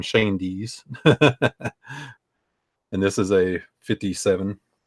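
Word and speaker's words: Schoendienst: with the Giants and that's how you say his name shane DS and this is a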